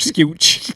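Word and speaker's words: Skeoch: said the man's name it's Tommy SK formerly the Tesla guitarist and in Robert a few weeks ago called him Mr scooch scooch it's spelled like that that I was speaking phonetically thank it's just it's a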